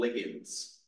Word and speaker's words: ligand: This term here is pronounced ligand. Although I have heard it said, people say ligand before. When I first learned it, I learned it as ligand. Doesn't really matter if you say either one, people know what you're